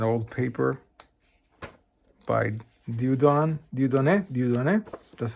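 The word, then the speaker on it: Dieudonné: some points set topology metric space an old paper by Dudon Dudon Dudon that's how you pronounce it dudon tonser bugner very good book.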